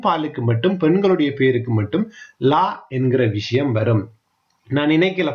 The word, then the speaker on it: gli: ஆனா உச்சரிக்க நீங்க லீ என்று உச்சரிக்க கூடாது. நாக்க நல்லா அடி மேல வந்து நாக்க தொட்டு லீ அப்படின்னு உச்சரிக்கணும். ஓகே, லீ ஜோகுர்த். ஓகே, லீ லீ ஸ்ட்ரூமெந்தி, லீ ஸ்ட்ரூமெந்தி, லீ ஸ்ட்ரூமெந்தி. லீ அப்படின்றது நல்ல வடிவா உச்சரிக்கப்பட வேணும்.